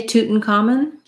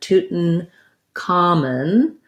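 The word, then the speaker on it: Tutankhamun: the uh schwa vowel if we do say tootin common we say it like this uh toot with a stop t so uh um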